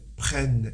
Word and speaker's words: prennent: il elle prenne et faites attention je prononce prenne j'ai bien accentué la lettre N prennent et du coup deux